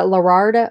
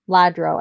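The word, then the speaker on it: Lladró: Somebody told me, is it Lerardo? No. Ladro? Ladro, maybe? L-L-A-D-R-O. Ladro. I think it's Ladro.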